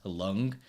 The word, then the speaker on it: Luan: is like the moon, but with an L. It's spelled really Okay. weird. Like my actual name is spelled Luan and it's pronounced Lung.